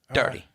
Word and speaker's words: Daugherty: David, I'm sorry I butchered your name. Daugherty.